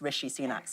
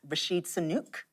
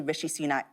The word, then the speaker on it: Rishi Sunak: And you would think he'd pronounced Rishi Sunak's name right, because the first time around he said it was Rashid Sunak. Yeah, but this time he called him Richie, which is nearer.